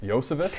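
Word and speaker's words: Iosivas: thoughts on uh Andre ioscevis the prince Josephus Josephus yeah that's how you say it uh because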